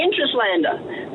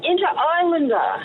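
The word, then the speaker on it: Interislander: It's the Interrlander." I said, "The what?" She goes, "The Interrlander?" I said, "No, no, inter islander."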